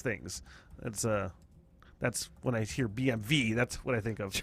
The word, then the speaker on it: BMW: W in German is V, so it's BMV is what it's supposed to be.